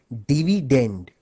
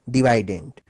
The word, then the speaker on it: dividend: dividend by the way the correct English pronunciation of this word is actually dividend but since dividend ranks better with divisor thus the students prefer to call it divident it helps them recall